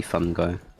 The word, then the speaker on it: fungi: Or is this supposed to be pronounced fungi? I've heard it both ways recently. Nah, it's definitely fun guy. Just like me, I am a fun guy.